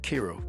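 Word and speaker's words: Kiro: I think it should have should have been pronounced Cairo because it's K I R O. Cairo, but anyway, they call it Kro.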